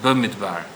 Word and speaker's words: Bamidbar: It's actually Bamidbar, if you were grammatically correct. It's the only Parasha, I believe, that we mispronounce.